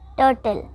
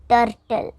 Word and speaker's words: turtle: Correct pronunciation, turtle. Wrong pronunciation, turtle.